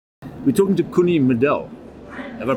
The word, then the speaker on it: Middel: We're talking to Coenie Middel. Have I pronounced that correctly? Middel, yes. Middel. In the center. In the middle, yeah.